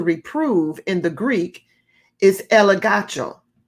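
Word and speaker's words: elegcho: The word convict or to reprove in the Greek is elegacho. It's spelled E-L-E-G-C-H-O.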